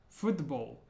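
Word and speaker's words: футбол: is this word football foot Bowl and notice at the end of the word the L Sound is like o in the back of the throat foot the bowl foot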